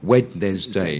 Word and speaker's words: Wednesday: If you were really pronouncing it phonetically, you know, Wednesday. Yeah. But it's actually, you forget the D.